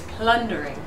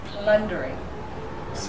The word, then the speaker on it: plundering: many syllables now three what's this sound here is it ooh or a and where's the stress plundering plundering beginning as minina beginning